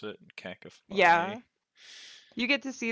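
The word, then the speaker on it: Kakifly: pronounce it, Cacafly.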